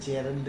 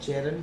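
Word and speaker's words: gerund: है तब हम इसको जेरंड कहते हैं। और जेरंड होता है वास्तव में इसका प्रोनाउंसिएशन वर्ड का जीरंड नहीं होता है, हालांकि हम बचपन से उसको जीरंड जीरंड कहते रहते हैं।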